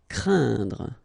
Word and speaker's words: craindre: So it's quite interesting here because you've got this combination of letters, so A, E, and then N, okay, so it will be a nasal as well, and then it will be pronounced like un, so keep in mind that it goes in your nose, so you don't hear any N when I pronounce it, and then C plus